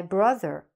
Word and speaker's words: brother: You should be saying the TH properly, like a TH. My brother, my father, my mother, okay?